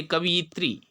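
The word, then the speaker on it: कवयित्री: ये शब्द विशेष रूप से ध्यान रखिएगा, कवि शब्द बनता है कवियत्री, उच्चारण भी ऐसा ही करिए कवियत्री।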